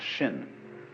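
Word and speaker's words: 心: Chinese mind is um this word pronounced shin and shin is here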